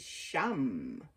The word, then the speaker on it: sham: is my chakra is sham sham I Associated it with the first syllable of the word shaman Shaman is a